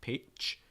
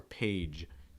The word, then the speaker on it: page: same page okay notice that page is also ending on that just sound so you want to make sure your throat's vibrating what tends to happen with students is that they release they make it a voiceless sound so it sounds like page page but it's more page page making sure there's a little vibration in your throat okay to be on